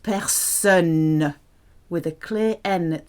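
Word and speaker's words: personne: person so best son has a clear n at the end la person noisy noisy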